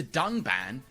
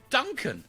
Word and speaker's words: Dunban: disagree with, and then calls the character Dunban Duncan. This time, however, they did edit out the mistake.